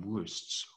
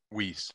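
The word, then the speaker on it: Wuest: It's from, I'm not sure I will pronounce this correctly, but it's from Wurst's World Studies. Wiest.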